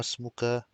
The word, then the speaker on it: اسمك: We have همزة الوصل, so we connect it. We don't pronounce the alif. ما اسمك?